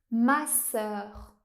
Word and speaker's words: masseur: Mais en français, il existe aussi le son /œ/ ouvert, comme dans le mot masseur.